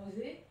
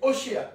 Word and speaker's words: Oshéa: Il a seulement changé, il a donné simplement à Josué, non, à Osée. On l'appelle Osée là, mais normalement c'est Oshéa, son vrai prénom.